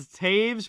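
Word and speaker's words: Toews: Taves is definitely not spelled Taves, but that's how it's pronounced.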